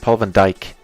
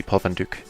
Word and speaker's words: Paul van Dyk: Paul van Dyk, or as they unfortunately have to pronounce him in English, Paul van Dyk. Actually, this should be Paul van Dyk.